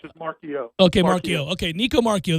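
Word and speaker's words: Marchiol: Nico Marchal, how do you say his name? I'm probably saying it wrong. It's just the L is silent. It's just Marchio.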